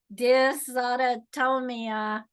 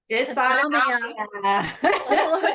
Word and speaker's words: dysautonomia: forward to you pronouncing dysautonomia. Dysautonomia. Say it again. Dysautonomia. Autonomia. Okay, that's where namia is where I was going wrong.